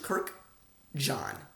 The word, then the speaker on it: Kurkdjian: how to say it I'll slow it down Maison it's like Mason both and I Maison Francis easy Maison Francis Kirk like Kirkland Kirk John the name John Kirk and John Maison